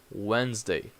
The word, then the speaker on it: Wednesday: Wednesday see the difference you have two silent letters Wednesday and also these s in Wednesday has a Z sound Wednesday so two same